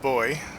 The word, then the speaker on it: buoy: Sure enough, that is the buoy as he was mentioning. He's uh he's British, so he pronounces it boy, but uh means the same thing.